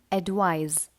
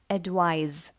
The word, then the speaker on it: advise: next words advice and advise is a slight difference in the pronunciation mind the last sound of these words advice and advise first word is spelled